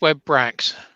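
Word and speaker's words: Webrax: one of those wrong isn't it webracks it's web bracks yeah so he's missed the audio so he's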